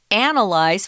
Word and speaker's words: analyze: is a noun lies analysis and analyze we have the strong syllable on different uh syllables and those sorry about that analysis second syllable analyze for syllable so yeah we'll often